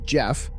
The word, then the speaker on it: Gef: Within months, the entity ah, which eventually named itself Gef, pronounced Jeff, and described itself as a little extra clever mongoose, had developed a personality.